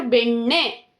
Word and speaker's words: ಬೆಣ್ಣೆ: This is a ne character. Under that consonant na only. So ಬೆಣ್ಣೆ. Pronunciation is ಬೆಣ್ಣೆ.